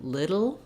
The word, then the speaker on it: little: because it is challenging i first recommendation is rewrite it like this and think in your mind little like you would for fiddle or griddle often when we see